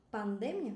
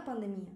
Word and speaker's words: pandemia: Está vendo aqui outra palavrinha que se pronuncia diferente? Pandemia, não é pandemia, é pandemia.